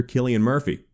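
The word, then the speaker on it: Cillian Murphy: first metal gear solid as well as actor killian murphy gotcha thank you for that comment correcting my name pronunciation as for the real and confirmed update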